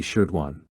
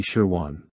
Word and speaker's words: Shirwan: At my innocent age, I had pronounced the name unclearly, leaving Mom momentarily confused when hearing Li Shirduan. However, she quickly realized it was Li Shirwan, who worked at the department store near the school, regularly traveling to larger markets to purchase commodities for replenishing the stock to serve the local villagers. At the time, I could easily mispronounce Wan as Duan.